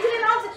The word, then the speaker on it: Gyllenhaal: Jake Gyllenhaal, you know how to correctly pronounce his surname? It's Gyllenhaal. What did you say? It's Gyllenhaal. Mrs. Gyllenhaal. Mrs. Gyllenhaal. I'm very surprised. It's not Gyllenhaal. It's Gyllenhaal.